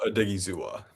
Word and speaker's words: Odighizuwa: He's a good Osa Odighizuwa.